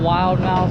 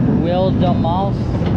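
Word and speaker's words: Wilde Maus: Alright guys, we just got off of Zapple, the park's Mac Wildemaus. Technically is how you pronounce it. It's not wild mouse, it's a Mac Wildemaus, which means wild mouse in German.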